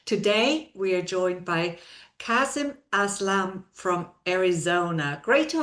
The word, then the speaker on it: Kasim: I tell everybody it's it's like awesome with a K. Kasum.